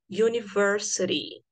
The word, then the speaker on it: university: encaixa nessa situação seria university. A university. Porque esse som de U, apesar da palavra university começar com a letra U, que é uma vogal, o som do U é considerado som de consoante.